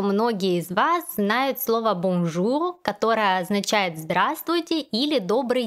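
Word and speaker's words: bonjour: из вас знает слова бомжу которая означает здравствуйте или добрый день произносить это слово нужно именно со звуком о боже а также в этом слове есть носовой звук ум вы можете добавить после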